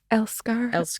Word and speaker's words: Älskar: I butchered the pronunciation. Älskar.